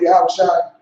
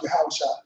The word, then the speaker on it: Yahushua: And for people who don't know online, Yahushua is a proper way to say who the Christians call Jesus. Right. His proper name in the ancient Hebrew is pronounced Yahushua.